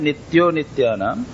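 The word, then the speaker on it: नित्योऽनित्यानाम्: उसका प्रोनाउंसिएशन होता है नित्यो नित्यानाम, लेकिन जब संधि विच्छेद होगा तो नित्यः अनित्यानाम ऐसा कहा है।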